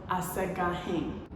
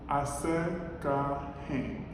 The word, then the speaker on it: Asagahin: It's pronounced Asagahin. Asagahin. So my full name is Asagahin, and that is me saying it in like a Ethiopian way, I guess I would say.